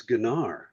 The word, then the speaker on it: Gunnar: Yeah, but it's not Gunnar. It's Ganar.